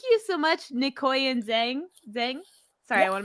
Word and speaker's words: Zheng: Zheng? Sorry, Yeah. I want to make sure I pronounce this right.